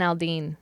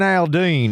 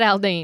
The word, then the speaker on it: Aldean: too much of an accent see that Jason Aldean I don't know if you say it like that it's actually a slur it's uh it's not Aldine either way he released a song called try